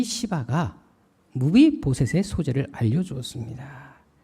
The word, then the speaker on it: 시바: 바로 시바였습니다. 발음을 잘 하셔야 됩니다. 사울의 모든 재산을 다 도맡아 관리하던 이 시바가 무비보셋의 소재를 알려주었습니다.